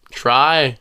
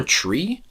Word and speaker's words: Tri: Try. Interesting. All right. Cute. Or tree, but it's spelled try. Like try. We'll say try.